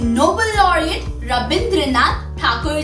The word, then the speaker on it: ठाकुर: Actually जब Britishers India पर rule कर रहे थे, तब वो ठाकुर को अपने ब्रिटिश एक्सेंट में प्रोनाउंस करते थे एज ठाकुर, ठाकुर। So from that he was also known as Rabindranath Tagore, but he belong to अ ठाकुर family.